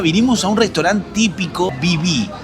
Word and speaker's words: Viví: Para comenzar el día vinimos a un restaurante típico Viví. Creo que así es como se pronuncia.